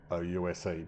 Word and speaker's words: Ouse: I would have called it Ouse, given it's spelt O-U-S-E, but the lady in the survey confirmed it's Ouse, not Ouse.